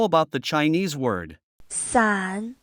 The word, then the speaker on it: 伞: 伞 Please listen carefully, it only has 1 syllable.